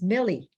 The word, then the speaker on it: Millie: and I should say my name uh how it's pronounced is Millie um and um it's